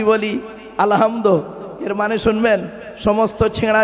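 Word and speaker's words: الحمد: রাব্বিল আলামিন আলহামদু এ গলার ভেতর থেকে এটা উচ্চারণ করবেন আলহামদু মানে হচ্ছে সমস্ত প্রশংসা আল্লাহ তোমার আর আমরা কি বলি আলহামদু এর মানে শুনবেন সমস্ত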